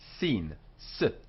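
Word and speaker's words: שׂין: and the dot on the left hand side sin although in the spanish and portuguese if you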